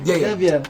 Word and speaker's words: Xavier: Xavier. Yeah, Xavier Thomas, for sure.